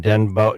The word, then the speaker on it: Denbow: There was a situation on Denbow Denbow or Denbo Road, d e n b o w, Denbow or Bow, however you want to pronounce it, road in Durham.